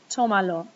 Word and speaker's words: Tómalo: When I add the lo, it's supposed to still fall on the second to last syllable, which would now be the A, but I want it to fall on the O, so I have to write in a written accent mark.